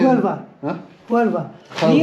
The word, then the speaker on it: Huelva: Huelva. The Huelva. H is silent. Huelva. Huelva. The H is silent. Okay, Huelva. It's not the Scottish H. It's Huelva.